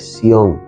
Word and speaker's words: Sion: A veces hasta hasta le ponemos un acento en la y le llamamos Sion. Es Sion. Es Sion, es Sion sin acento, el lugar del gran